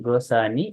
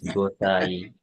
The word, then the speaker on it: গোসাই: So this one Gosani, this N is silent there. It is Chandra Bindu is there. It is Gosai.